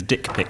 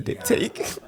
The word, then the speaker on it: diptyque: I've got diptyque candles now. Oh, so- yeah. Which for a while he was pronouncing as dick pic candles.